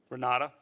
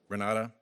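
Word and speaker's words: Renate: name of an individual you know Renata Renata it's spelled with an e at the end re na te is direct okay and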